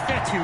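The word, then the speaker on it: Fetu: on that play so coach fetty spelled f-e-t-u for the longest time i was pronouncing it coach feda like feta cheese so let's just say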